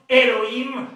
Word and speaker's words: Elohim: Dans les systèmes masorétiques, Alhim se prononce Elohim, l'histoire des transformations, l'origine